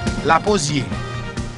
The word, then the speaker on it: lapozyé: La posier. L A P O Z Y E pronounced as E. La posier.